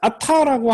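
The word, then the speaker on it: עַתָּה: 자, 아타라고 하는 표현은 요거는 강세가 어디 있냐면 앞에 있습니다. 이건 페널티밋 액센트예요.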